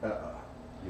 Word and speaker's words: Eä: I liked Ea, that's what I thought it was, but the Finnish folk in Finland corrected us and it's Ea.